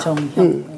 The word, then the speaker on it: 정형: 형이라고 읽어야 되나요? 형입니다. 정형.